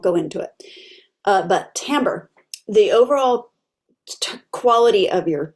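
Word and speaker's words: timbre: the genre uh sorry not tamber which is spelled t m b r e tamber tamber t i m b r e doesn't it looks like tambra okay we've talked about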